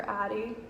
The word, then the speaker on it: Addie: Addie gets spelled many different ways, and I dislike when it's spelled with an I or an IE, so it's Addy. It's daddy without the D. That's the best way to remember it.